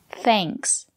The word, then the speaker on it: thanks: But if the letter A is before ng or nk, we pronounce it as the long A, like in plane. For example, thanks.